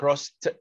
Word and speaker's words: crossed: cross في الماضي علشان اخر صوت فيها صوت الاس بننطق الاي دي تي. الكلام ده مش زياده ولا حاجه، الكلام ده حقيقي يا جماعه. يبقى cross تبقى crossed. crossed ت ت ت وما تخجلش من النطق الصح.